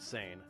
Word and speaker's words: seine: that time peran fishing yes we pronounce it San was the main fishing